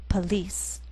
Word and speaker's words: police: In the second word, we have two syllables, and the first one has the vowel sound p. Second syllable has the vowel sound e, police.